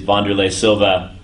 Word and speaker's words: Wanderlei Silva: He is Wanderlei Silva. I finally pronounced his name right.